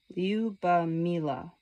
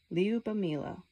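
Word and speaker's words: Lyubomila: the lady's name, the girl's name, is pronounced Liubamila. Liubamila.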